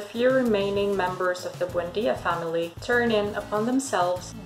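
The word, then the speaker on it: Buendía: José Arcadio Buendia.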